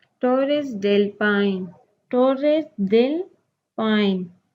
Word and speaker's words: Torres del Paine: और दूसरे पेज पे है पेज 49 पे टोरेस डेल पाइन. टोरेस डेल पाइन. Pronounce it Torres del Paine in Chile.